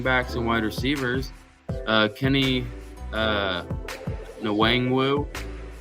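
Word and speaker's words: Nwangwu: and wide receivers, Kene Wangwu, I think the N is silent, the first one, from Iowa State.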